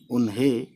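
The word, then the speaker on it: انہیں: तो है और बड़ी ये जेर है, उन है, नून गुन्ना लिया तो हो गया उन्हें, ठीक है।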